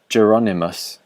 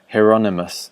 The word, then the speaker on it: Hieronymus: the artist's first name would probably have been pronounced geronimus in his day but I pronounce it Hieronymus spelled with the same first five letters as